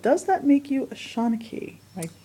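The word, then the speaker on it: seanchaí: And Ireland has a strong tradition of storytellers, but does that make you a Shanachie? Am I pronouncing that correctly? Shanachie, yes.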